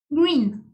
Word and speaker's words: green: Red, orange, es como SH, orange, yellow, green. Aquí se acuerdan que les dije que la E y la E junta se decía I, es green.